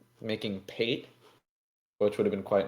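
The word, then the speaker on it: pâté: Pate is just the E has an accent on it, aigu okay.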